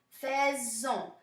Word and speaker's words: faisons: So we have nous faisons, faisons. So even though this S is here, it's pronounced like a Z. Mais pourquoi? Right? Why? Because it's being followed by a vowel.